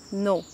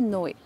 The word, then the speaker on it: Noé: le vidéoclip s'affiche sous le pseudo No, N-O-E, qu'on peut prononcer No ou Noé.